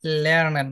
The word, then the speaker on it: lernen: আচ্ছা, উচ্চারণ করা ভুল আছে এখানে। লার্নেন, লার্নেন না, লার্নার, লার্নার সেটা ইংলিশে হয়ে ও যাবে, লার্নেন।